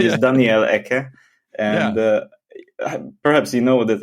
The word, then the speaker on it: Eke: Yeah, that's interesting because it has this like sound, and in my case, it's just Eke. So it's also similar to the Finnish pronunciation.